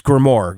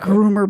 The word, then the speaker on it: grimoire: Grimoire. How do you say it? Grimoire. I hope they're not groomer books. No, grimoire books.